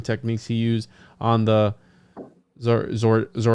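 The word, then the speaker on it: Zorayda: Smith helped train the masons on the mixing and pouring techniques he used on the Zoraida. How do you say it again? Zoraida.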